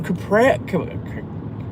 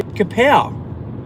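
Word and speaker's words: กะเพรา: I got some I went to the markets on Sunday after my walk and I got some capri Let's say it properly. Kapow, the proper holy Thai basil.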